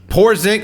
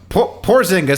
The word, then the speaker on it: Porzingis: all right next one poor zing nope porzingis spelled prosingus is soft